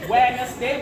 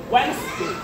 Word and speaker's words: Wednesday: Never say Wednesday, but say actually 2 syllables, Wednesday.